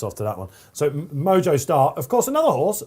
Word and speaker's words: Mojo: we like mojo style they call it mojo star not moho when you go to south america it would be pronounced moho i think i've got